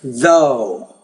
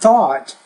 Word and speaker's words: though: So that last word is though. Notice there's no T there, though. Not thought, though.